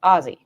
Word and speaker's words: Aussie: How else do you say Aussie? Oh, isn't it just Ozzy, like Ozzy Osbourne? If somebody has this many red flags for the both of them, pronounce it with 2 Z's. Ozzy.